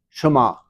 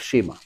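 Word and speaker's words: Shema: in Hebrew it's a it's what is called a half e and so it's almost not pronounced and therefore uh the word sounds like shama instead of Shima okay sha and you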